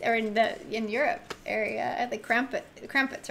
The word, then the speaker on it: Krampus: in the East or in Europe area, the Krampus, right?